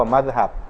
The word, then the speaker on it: มัซฮับ: อักษร มีม เข้า ไป ข้าง หน้า อ่าน ว่า มัซฮับ ซึ่ง ใน ทาง ภาษา ของ มัน เนี่ย แปล